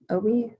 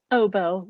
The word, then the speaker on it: oboe: english horn um bassoon and what clarinet saxophone obi might pronounce that right oboe you're so close like ob i'm like that